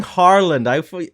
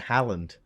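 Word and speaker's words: Haaland: yeah yeah no well you're saying Harland like I would pronounce it Howland well that sounds like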